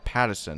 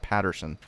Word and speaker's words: Pattison: I mean, is that a typical pronunciation when there's no R? Whenever I hear Pattison, or whenever I see Pattison, I think Pattison, not Patterson.